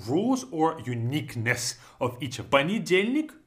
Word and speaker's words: понедельник: Понедельник, long word, but we say понедельник, понедельник. Even though you see it, it's spelled as понедельник, the first letter is О, the first vowel is О, but we say it as понедельник. Because it's not stressed, it's gonna sound like a, понедельник.